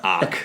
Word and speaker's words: ARQ: Arc. Arc. Okay, good. It's spelled ARQ, just in case you wanted to know.